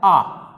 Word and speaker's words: a: हम ए जो आर्टिकल है उसको ए ज़्यादातर बोलते जाए, this is ए pen, this is ए book, जबकि उसको ए नहीं बोलना चाहिए। उसका जो शुद्ध उच्चारण है वो होता है आ।